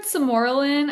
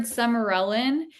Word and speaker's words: sermorelin: I've heard samoralin. I've heard smearellin. Yeah, I've heard smearel and samorin. Like they they both like tomato tomato.